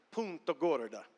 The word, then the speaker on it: Punta Gorda: que en puntagorda florida pero spencer punto gorda así se pronuncia pero sepa cómo se pronuncia verdad en 32 y él